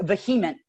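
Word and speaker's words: VHEMT: Excuse me, pronounced vehement.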